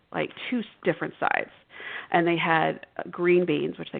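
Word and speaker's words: Gruene: I remember I worked at a restaurant um it's in was called Green Texas. It's spelled G R U E N E.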